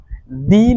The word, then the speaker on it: the: উত্তর হচ্ছে এই THE কে দাও বলা হয়, আবার দিও বলা হয়, অর্থাৎ আমরা দুই উচ্চারণই করতে পারি। বাট এখানে ক্ষেত্র বিশেষে কখনো আমাদের দা বলতে হয়, কখনো দি বলতে হয়।